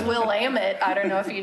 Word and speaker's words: Willamette: on a lot she's a quick study about pronunciations it's Willamette I don't know if you knew that Clackamas